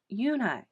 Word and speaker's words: Unhei: no no unhi corrected it's spelled u-n-h-e-i it's pronounced uni oh it's you hey